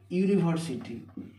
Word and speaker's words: university: দিয়ে যদি শুরু হয় ধরো আমি শুরু করছি ইউনিভার্সিটি ইউনিভার্সিটি এই ইউনিভার্সিটির উচ্চারণটা উর মত হচ্ছে ওয়াই ইউ উ ওয়াই